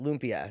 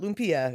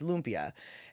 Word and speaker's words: lumpia: lumpia factory and they they pronounce it lumpia not lumpia it's lumpia and at the lumpia